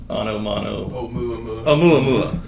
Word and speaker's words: Oumuamua: Our Voyager craft could be the how do you pronounce it again? Oumuamua.